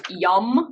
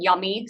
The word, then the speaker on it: yam: It's spelled Y-A-M, but it's actually pronounced yum. So kind of like you're eating yummy.